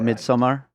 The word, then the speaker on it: Midsommar: Is it Midsommar or Midsummer? Midsommar. Yeah. Midsommar.